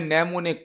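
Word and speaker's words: mnemonic: नेमोनिक code, यहां पर am silent होता है।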